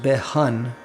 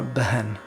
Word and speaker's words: बहन: Moving to the second line, the word behan is the one word I would say in this song where the English doesn't quite show you how to pronounce it. So it's not so much behan, but it's more behan.